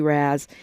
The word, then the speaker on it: Raz: Y'all like to call him Raz, but it's really Raz. As Tavis would say, rhymes with jazz.